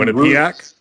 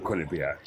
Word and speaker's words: Quinnipiac: So Quinn Quinn Quinn Quinn and Quinnipiac.